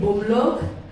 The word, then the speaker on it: Bamlak: Bamlak, prononcé Bomlok, âgée de 12 ans, habite à Addis Abeba, Éthiopie.